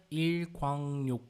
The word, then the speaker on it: 일광욕: Ela tem uma pronúncia um pouquinho irregular, eu acredito que vocês devem ter notado. Se a gente pronunciar parte por parte, seria 일광욕. Só que, quando fala tudo junto, a última sílaba passa a ter um som de N. Então, a gente fala nho.